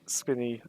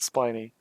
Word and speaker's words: Spiny: is telling me that I keep pronouncing it as spinny not spiny I don't like spinny